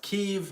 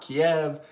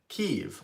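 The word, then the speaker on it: Kyiv: the comments would correct me and say it's pronounced keev not Kiev and so the pronunciation of the capital of Ukraine is actually a dividing line ukrainians pronounce it keev or somewhat similar to ke while Russians would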